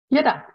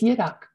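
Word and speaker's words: ཡི་དྭགས: Yidak. It's Yidak. Yeah, the V is silent, and it's just used...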